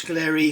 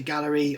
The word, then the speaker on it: Gaahleri: packaging how I pronounce Galler some people say Gallery I say Galler um I think if it was supposed to be proun Gallery it would be g l l r y wouldn't it cuz I say you